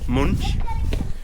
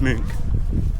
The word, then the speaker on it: Munch: Yesterday we were calling the art museum munch, but it's actually pronounced m.